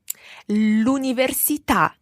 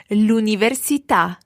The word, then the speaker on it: l'università: L'università. Now we've got to watch our stress in this one. Let's hear it again. L'università. Katie? L'università. L'università. Good. The stress goes on the last syllable there.